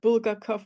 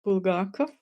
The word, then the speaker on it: Bulgakov: this man's name so it's bulgarov okay not bulgarov or something it's bulgarov okay and with the for names it's just